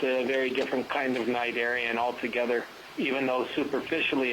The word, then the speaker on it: Cnidaria: So when the ship stops, Sirius Pronounce it starts. Cnidaria.